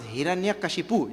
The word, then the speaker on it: Hiranyakashipu: yuga, his name was Hiranyakashipu. You heard? See, He, Ran, Ya, Ka, Shi, Pu. What a long name. 6 syllables are there.